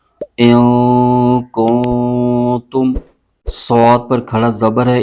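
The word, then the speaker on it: كُنتُم: بھی غنہ کریں گے۔ تا پر پیش ہے اور میم ساکن ہے، اور تا کو میم کے ساتھ ملائیں گے۔ ہجے یوں کریں گے، حمزہ نون زیر ان، کاف نون پیش کن، کن، تا میم پیش تم، کنتم۔ صاد پر کھڑا زبر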